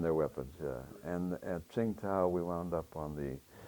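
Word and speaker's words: Qingdao: peninsula called um um Singa or the Chinese pronounce Chingo they make that Chinese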